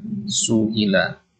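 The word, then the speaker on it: سُئِلَ: Kalau tulisannya seperti ini bacanya su'ila. Kalau hamzahnya di atas alif barulah dia dibaca sa'ala. Ini su'ila.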